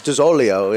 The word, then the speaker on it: DiZoglio: It's DiZoglio, if you want to say it right.